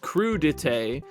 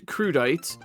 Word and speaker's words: crudité: Uh, I am going to do my best to pronounce crude dete and not crudite.